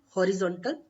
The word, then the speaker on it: horizontal: In English, horizontal, horizontal, horizontal, horizontal, because H is silent in Spanish. So we will not read horizontal, we will read horizontal.